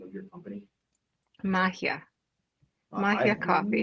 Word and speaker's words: Magia: name of your company Mahia Mahia coffee not been saying it correctly I've been saying it Italian so maio so I've not been saying it correctly at all anyway glad you're here